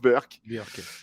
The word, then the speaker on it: Burke: giraud dribbler reding voilà ça s'écrit burke mais se prononce berck donc voilà je m'égare